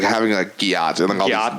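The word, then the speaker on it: gyatt: like a fat ass they say Gat G yeah it's spelled g y a TT so spelled same as my name but completely different yet so how how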